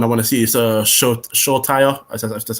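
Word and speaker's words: Solskjær: Another one I want to see is Solskjaer.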